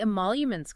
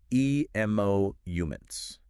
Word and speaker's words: emoluments: Oh, right, the emoluments clause. Exactly. And they gave the pronunciation, too. How was it again? It's emoluments.